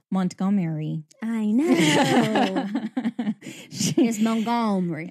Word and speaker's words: Montgomery: That's not right. It's Montgomery. Like Montgomery. Montgomery. you gotta get a little Cajun and a little Southern in there to say it correctly.